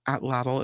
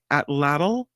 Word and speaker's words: atlatl: Most people say atlatl, but they say the exact pronunciation may be lost to time. So, the atlatl, that's what we say it here.